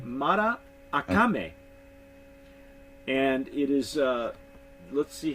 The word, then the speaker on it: Maracame: I'm looking at this I was pronouncing this in the Spanish Morocco me but on the back I was corrected because it's actually Matta I coming and it is let's